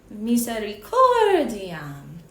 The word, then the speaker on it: misericordiam: Listen to me say it one more time, exaggerated. Misericordiam, right? So I'm not pronouncing every syllable with equal weight.